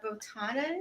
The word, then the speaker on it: botanas: Botanas.